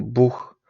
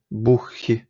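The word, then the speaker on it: Buch: аух ліхт мехн бух От бачите тут у також вона така тверда у І тому ми говоримо бух не можемо сказати бухх Я думаю що ви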